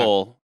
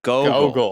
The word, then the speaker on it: Gogol: Google, but Gogol.